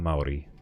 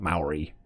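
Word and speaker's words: Māori: I can speak English, French, and Treo Maori.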